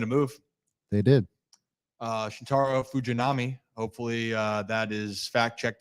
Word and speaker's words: Fujinami: Shintaro Fujinami. Hopefully, that is fact checked to be the correct pronunciation. I worked on that a lot tonight, actually, on the pregame for 105.7, and I think it's Fujinami.